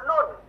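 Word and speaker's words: ن: ini ada satu huruf nun di belakang huruf lam. Tadi lam, sekarang mundurin ujung lidahnya, mundurin berapa senti? Nun. Nah, gitu ya. Ujung lidah kita menyentuh langit-langit setelah huruf lam.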